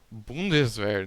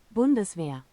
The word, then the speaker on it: Bundeswehr: Bundeswehr. Não, eu quero ouvir o termo do jeito certo de se falar. Ó, tradutor alemão. Bundeswehr.